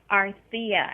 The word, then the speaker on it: Arthia: How's that pronounced? Arthia? Arthia, actually.